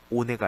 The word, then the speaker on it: ohne: 그리고 얘 같은 경우 오네라고 되어 있죠. 자, 참고로 모음 다음에 아에이오 모음 다음에 하가 등장하면 어떻게 되죠? 앞에 있는 모음이 장모음이 되죠. 그래서 이건 오네가 아니고 오네 이렇게 길게 오네 이렇게 오네 앞에 있는 오가 길어집니다.